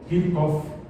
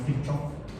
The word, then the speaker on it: Kirchhoff: Gustav Kirchhoff, se pronuncia como C, no es Kirchhoff, y Robert Bunsen.